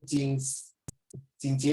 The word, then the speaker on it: Jingjie: How you pronounce the name? Jingjie, is it? Yes.